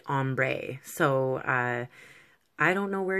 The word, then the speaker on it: ombre: gradually getting darker it's like an ombre or Umbro however you like to pronounce it wherever you are from I'm used to saying Umbra but I was corrected politely by someone on my channel saying we call it ombre so I don't know